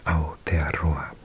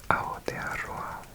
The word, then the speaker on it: Aotearoa: say it somewhere, so I knew how to pronounce it. New Zealand, in Maori, Aotearoa. Aotearoa.